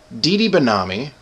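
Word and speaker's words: Didi Benami: Dee Benami, did I say it right?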